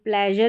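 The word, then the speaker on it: pleasure: और यहां पर जैसे इ ए है और यह प्लेजर में भी इ ए है। मेजर में भी इ ए है। इसका साउंड ए करके आ रहा है। इ करके इसको हम प्रोनाउंस नहीं कर रहे हैं।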